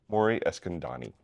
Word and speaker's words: Mori Eskandani: A very special guest, a Poker Hall of Famer, Mori Eskandani. Welcome. Thank you. And I pronounced the last name correct?